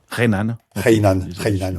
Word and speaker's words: Hainan: Et on a vu le 9 avril dernier un avion cargo se poser sur l'île de Hainan. Je ne sais pas comment on prononce. Hainan. Hainan, oui.